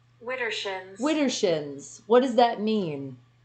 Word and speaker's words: Widdershins: What is Wintershins? And I think I finally got the correct pronunciation. Or Widershins. What the hell? The volume's up. Widdershins.